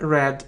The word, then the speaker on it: read: in english you see we pronounce these forms differently read but red red okay my friend